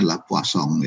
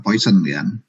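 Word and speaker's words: Poisson: saya salah ngomong jalan karena ada Perancis ya bacanya lapo song Ayo kita bukan hal Poison bukan poison tip2 bahasa Inggris Poison GNB racunnya kalau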